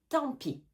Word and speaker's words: tant pis: On ne prononce pas le T et on ne prononce pas le S. Tant pis.